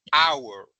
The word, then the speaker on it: hour: Pero en hour la H no existe, por decirlo de esa forma, al momento de pronunciarla es una H muda.